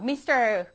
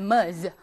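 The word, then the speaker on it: Ms.: แปล ว่า นาง สาว มส คือ นาย แต่ ถ้า น้อง ไป เจอ ตัว นี้ ms จุด ms จุด ตัว นี้ ไม่ ได้ อ่าน ว่า มิส นะ คะ อ่าน Mer เ ออก เสียง เป็น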